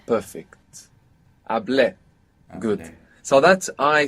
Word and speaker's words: hablé: Well, the accent is on the E. Perfect. Hablé.